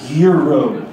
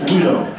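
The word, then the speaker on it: güiro: In English, we would call this a gyro, G-U-I-R-O. But on the Weedlegrass page, it says pronounced W-E-E-D-O, which is kind of the best way for a gringo to pronounce this weedle.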